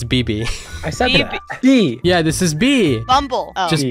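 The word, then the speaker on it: Bibi: uh you pronounce it it's one letter twice that's how you pronounce it close so close so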